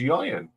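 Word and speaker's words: Ieuan: was a Scottish way see the Welsh why is yan yan yan yeah it's spelled EU n and the most the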